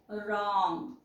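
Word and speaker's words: wrong: okay R च्या अगोदर इथ पण तुम्हाला दिसेल आर च्या अगोदर जर डब्ल आलेला असेल तर तो सायलेंट असतो म्हणून याला वाचावा लागत आपल्याला राईट आणि दुसरा शब्द वाचावा लागेल रंग करेक्ट त्यानंतर बघा जी हे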